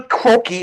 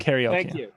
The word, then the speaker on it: karaoke: do I don't do kroi I do karaoke karaoke okay karaoke is technically the proper pronunciation but okay fine say it the way Hollywood says it okay so so